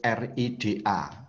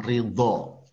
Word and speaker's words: ridho: Kalau di dalam Kamus Besar Bahasa Indonesia ditulis RIDA, rida. Tapi membacanya seharusnya ridho.